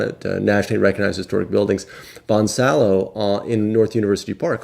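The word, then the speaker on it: Bonsallo: a double l o the double l sound of course in spanish with the y seven it comes to y so they pronounce it bonsaio whereas the anglers the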